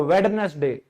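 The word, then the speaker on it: Wednesday: बुधवार को तो 90% लोग वेडनेसडे। सर आज क्या वार है? वेडनेसडे। अरे भाई डी तो है ही नहीं। डे तो साइलेंट है तो क्या बन गया यह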